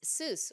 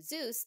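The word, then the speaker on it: Soos: Lux doing it it's Seuss with an s s oos as opposed to Zeus the great God which is how I've been pronouncing it the entire time but it gets spelled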